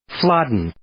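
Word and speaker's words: Flodden: victory over the Scots at the Battle of flodin in 1513 did I pronounce that right YouTube says fladen yes I think it's interesting to note here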